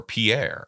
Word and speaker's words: Pierre: in South Dakota where the capital city is pier and it's spelled like the French Pierre but no South Dakota Cowboys going to go around saying Pierre so it's Pier but I'll bet you